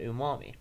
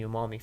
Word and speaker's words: umami: a savory flavor profile it's they call that umami um okay so it's a savory flavor profile